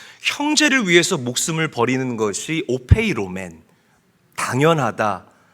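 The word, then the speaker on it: ὀφείλομεν: 자, 여기서 보면 마땅하니라. 오페이로맨이라고 읽고 발음합니다. 당연하다. 거리낌이 없다라는 뜻을 가지고 있어요. 형제를 위해서 목숨을 버리는 것이 오페이로맨 당연하다.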